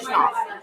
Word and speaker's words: Schnall: always get nervous with pronunciation. I know. Schnall. Okay. Schnall. Schnall. Okay, I'm glad in my mind I had that, but now I'm glad you said it. Yeah. Schnall.